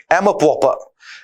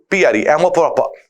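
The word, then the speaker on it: amour-propre: Passages में reading में यूज हो रहा है, एमर प्रॉपर। एमर प्रॉपर, एमर प्रॉपर। स्पेलिंग देखें, MAMOUR, एमो hyphen प्रॉपर, PROPRE, एमो प्रॉपर, एमो प्रॉपर, self respect और आत्मसम्मान के लिए।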